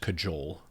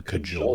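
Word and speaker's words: cajole: And we did get the uh correction of uh it's pronounced cajul to cajul someone. Yeah, it's a hard J.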